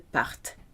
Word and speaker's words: partent: Il, elle partent with that silent ENT.